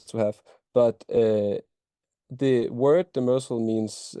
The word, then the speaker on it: Demersal: Yeah, I call it we call it Demersal, and it's not a Danish word actually.